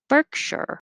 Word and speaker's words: Berkshire: it would be but in america the unstressed syllable the shure shire changes to sure so berkshire berkshire and avenue at